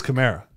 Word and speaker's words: Kamara: gotta notice that we have to stop calling him kamara it's kamara camara yeah it is chimera it is yeah somebody yelled at us like come on i would say my name is o'hara i should be able to say chimera like i should know that why don't i know that it's camaro i got it now it's in my brain